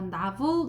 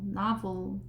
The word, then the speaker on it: novel: 그리고 이것 을 "novel" 이라 고 발음 하면 안 됩니다 . " 나브 - 울 " 이라 고 발음 해야 합니다 . 나브울 , 나브울 .